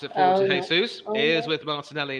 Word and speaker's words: Jesus: remember that given that he's Brazilian, he likes to pronounce his name Jesus.